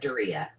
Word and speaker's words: Doria: Korea, like Korea, but Doria. Doria.